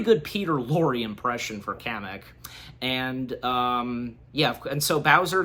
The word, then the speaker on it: Kamek: And also Kamek, if I'm pronouncing his name, that's the wizard Koopa, right, with the glasses? Yeah, Kamek is the name of the wizard.